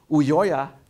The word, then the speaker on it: Ulloa: Ulloa is one of the first to believe to